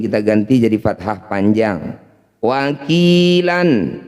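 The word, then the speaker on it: وَكِيلًا: Wakilan ketika dihentikan wakila. Wakila, jadi lanya ini panjangnya sama dengan ki, ya. Namanya mad iwad, cara bacanya sama dengan mad tabi'i, panjangkan 2 harokat atau 1 ayunan. Wakila.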